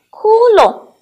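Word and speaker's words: 窟窿: 龙单独成字的时候，他读第二声龙，当他跟窟组成词语的时候，他要读轻声，跟老师读窟窿。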